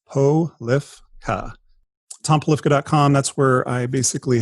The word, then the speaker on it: Polifka: So Polifka is phonetically correct. A lot of times people will try to add a little something in there, but it's Polifka.